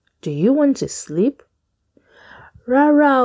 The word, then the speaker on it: Rárá: No is rara. Ra, ra, rara.